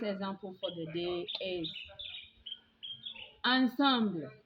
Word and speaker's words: ensemble: But when the English borrowed the original French ensemble, they pronounced it as ensemble, and we normally use this word for symphonies or orchestra. So you will hear people say dance ensemble, dance ensemble. It is not ensemble, it has been borrowed from French but pronounced to suit the English.